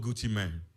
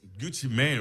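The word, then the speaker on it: Gucci Mane: I guess there's a musician called Gucci Mani. This Gucci Man, right? Okay. See, see, I said it wrong. It's Gucci Man.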